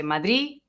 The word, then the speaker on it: Madrid: Okay, there are 3 options. You can say Madrid. The standard is Madrid, obviously, but when you relax, you say Madrid because it's easier. In Mexico, I remember my manager would say Madrid. you would say th at the end.